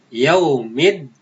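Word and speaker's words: يوم الدين: Contohnya yaumiddin. Yaumiddin, ad-din itu adalah alif lam as-samsiah. Cara membacanya dilebur. Jadi alif lamnya tidak dibaca, dimasukkan ke dalam huruf dal setelah huruf alif lam.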